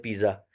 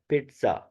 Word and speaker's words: पिज़्ज़ा: जाता है जी पिज़्ज़ा, हम पिज़्ज़ा आम तौर पे सुनते हैं पिज़्ज़ा, लेकिन वो असल उसकी प्रोनाउंसिएशन जो अदायगी है वो है पिट्ज़ा। पिट्ज़ा यानी टी की आवाज़ थोड़ी सी आती है उसमें। टी लिखा नहीं होता लेकिन हम थोड़ा सा बोलते हैं, हम नहीं